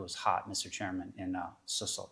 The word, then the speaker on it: Cecil: Chairman, in Cecil. Did I say it right? Cecil.